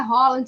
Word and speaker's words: Haaland: E agora não sai mais, agora é Holland de qualquer jeito. Eu sei, Exatamente. gente, que a pronúncia é correta, né?